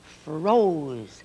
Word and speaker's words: froze: Froze. Little silent E again makes O say its own name, O.